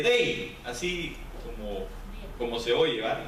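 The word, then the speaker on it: δεῖ: Para empezar, quiero decirle que la palabra necesario viene de un griego que es el 1163, se escribe dei, así como se oye, ¿verdad?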